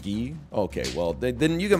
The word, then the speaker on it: Guy: I was like okay it's got to be guy Gabrielle K there were no other options if there were other options I would have gone for them okay it's pronounced ghee okay well then you